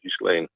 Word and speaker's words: Ghislaine: over the pronunciation of Ghislaine Maxwell's name. So when you see the name, that GH, think of it as kind of a ZHE or a JHE. Yeah. And it's not a hard G.